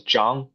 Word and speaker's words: Zhang: My name is Xan. Uh, it's pronounced as Jang, my last name in Chinese.